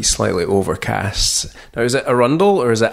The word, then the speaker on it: Arundel: Now, is it Arundel or is it Arundel? Arundel.